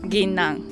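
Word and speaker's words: ぎんなん: How do you pronounce it? Ginnan.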